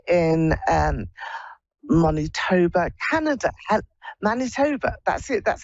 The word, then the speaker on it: Manitoba: is this Lori in um monit TOA Canada Manitoba that's it that's how you pronounce it hello hello okay okay my geography